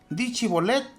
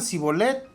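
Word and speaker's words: Shibolet: Efraín sí respondía no Entonces le decían d cholet y si pronunciaban si bolet porque no podían pronunciar correctamente lo tomaban y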